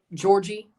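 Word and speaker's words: Djordje: At this point, like, to pronounce Mihailovic's name, it might actually be Georgie. But at this point, I've been saying Jordy for so long, I'm saying Jordy.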